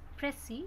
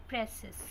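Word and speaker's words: précis: So this is pressy, not presses. Sir is silent.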